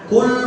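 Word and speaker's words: قُلْ: itu fi'il amal tapi kalau kita pakai k dari kata akalan Katakanlah dialah Allah yang Maha Esa Tapi kalau pakai khul huwallahu Ahad Makanlah dialah Allah yang Maha Esa salah satu huruf salah arti tapi tapi nanti karena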